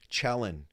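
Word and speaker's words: Cielen: Chelin. Kuba Chelin. It's Polish, believe it or not.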